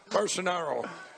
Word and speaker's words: Bolsonaro: Bolsonaro.